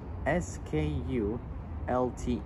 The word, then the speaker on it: Skulte: The A1 highway near Skulte, which is spelled S-K-U-L-T-E, Skulte, on the Selkrasti bypass and other sections,